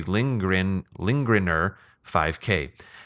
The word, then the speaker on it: Lindgren5K: I know they're tough to read, so the phonetic pronunciation should be Lindgrener5K.